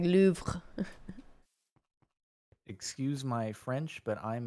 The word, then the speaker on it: Louvre: Wait, do you actually pronounce the R in French? It's like, kind of. It's like Louvre.